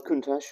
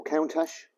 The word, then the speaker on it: Countach: the cooling system on the kuntas will count hash or contact depending on how you want to pronounce it um two radiators pressurized